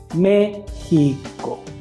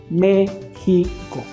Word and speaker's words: México: Si nos ponemos a dividir esa palabra, se divide en 3 sílabas. La primera sílaba va acentuada, entonces vamos a decir al niño que repita la palabra México, siempre dándole énfasis al acento. México, México.